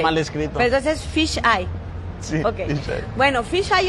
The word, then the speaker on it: Phyzh Eye: Se dice Fisay. Fisay. Como ojo de pescado en inglés, ¿no? Ah, ok. Sí. Porque no está escrito como así, ¿verdad? Sí, está okay. Mal escrito. Pero entonces es Fisay.